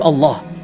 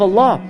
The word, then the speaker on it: Allah: about this name of Allah is that it is the only word in the Arabic language in which the Double L has a special pronunciation typically if the lamb